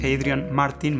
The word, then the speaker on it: Adrian Martin: teórico de cine australiano se escribe a Adrián Martín pero sin acentos Adrian Martin martinn es el apellido